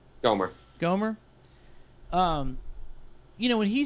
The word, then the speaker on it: Gohmert: Gohmert.